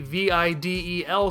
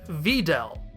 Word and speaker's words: Videl: carelessness or by choice treat it as a straight anagram speaking it as Videl with emphasis shifted to the end of the word it sounded weird